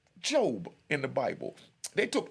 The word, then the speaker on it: Job: It's spelled J-O-B like Job, but it pronounced Job.